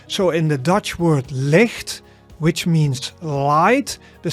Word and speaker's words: licht: So it is as in the Scottish loch, right? The monster of Loch Ness, right? So the sound. So you should feel it at the back of your mouth.